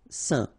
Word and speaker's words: Saint: Alright, so final T not pronounced, and then when you combine this A-I-N here, you get the un sound. Saint.